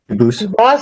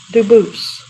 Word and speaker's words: Dubus: They do pronounce it dubis, but you said you pronounce it dubus as the original dubus as the original French. Yep. Very well, Duboose.